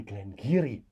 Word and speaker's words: Glen Garioch: your favorite Glenn Geary I say Glenn giri in South Africa but I think Glengarry is the as a good pronunciation thank you very much